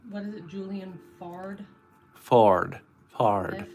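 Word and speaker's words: Foard: Fard. How do you spell it? Fard. F-O-A-R-D. Fard. A-R-D. That's like Ford.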